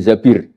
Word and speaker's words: Zabir: nikah sama Abdurrahman bin Zabir di hadis ini bukan Mbak Bacanya bukan Zubair tapi Zabir.